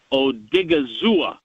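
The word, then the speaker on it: Odighizuwa: he mentioned is a defensive tackle named Oso Odigizua, which I it's a fun think name.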